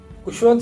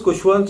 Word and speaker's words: Khushwant: He then chose Khushwant so that it rhymes with his elder brother's name Bhagwant.